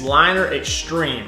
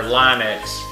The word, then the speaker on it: Liner Xtreeme: turned out nice it's liner extreme i say it like ten thousand times liner x it's not liner x it's a different company or linex it's liner extreme and i'll put a